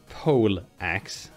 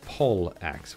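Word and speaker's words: pollaxe: And it's not pole axe, as most people think. It's pole axe, which P-O-L-L axe. I don't know the etymology behind it, I just know that's how you spell it.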